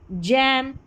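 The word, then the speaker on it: gym: तो यहां पर है जयंट, जिराफ, जैम, जिम और जेंटल।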